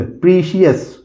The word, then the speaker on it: precious: इसी तरह दोस्तों लिखा हुआ है PRECIOUS, प्रीसियस। प्रीसियस मतलब होता है बहुमूल्य। प्रीशियस, क्या बोलेंगे? प्रीशियस, ऐसे बोलिए हमारे साथ।